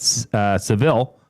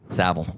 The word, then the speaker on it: Saville: Sorry for asking in every show, but anyone want to play basketball tonight at Seville? Saville. Seville. Saville. The Saville Center. I've called it Seville. It's Saville.